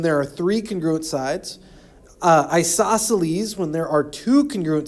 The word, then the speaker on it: isosceles: The way I remember to spell isosceles is I always say it wrong in class. So in class you might hear me say isosceles. That reminds us that there's a C after the second S there.